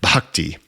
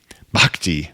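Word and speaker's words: bhakti: and it's if if if I was a Sanskrit scholar it would be something like bakti bakti because that H is an aspirational sound yoga and this is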